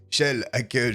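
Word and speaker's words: Kjell-Åke: souvenir de la sphère de kiel a que johannson qui se prononce en réalité shell à quai johansson merci à vous d'ailleurs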